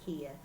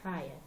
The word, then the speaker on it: Kia: I've been called Kai, I've been called Kay, I've been called Kia. The correct pronunciation of my name is Kaya.